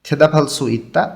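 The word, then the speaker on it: 대답할 수 있다: মুত্তা মানে জিজ্ঞাসা করা, তাহলে মুতকো জিজ্ঞাসা করা এবং থেদাফালসু ইত্তা উত্তর দিতে পারা। বিয়োগটা হিউতের স্থানে গিয়ে ফয়ের মতন উচ্চারণ হবে।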